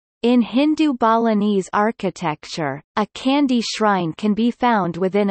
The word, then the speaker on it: candi: Temples are called candi, pronounced tandi, in Indonesia, whether it is Buddhist or Hindu.